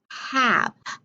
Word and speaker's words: have: put a e and this word is a rule breaker because i want you to look it looks like it's an a consonant e word but it's the word have ah that's a short a remember our ruling when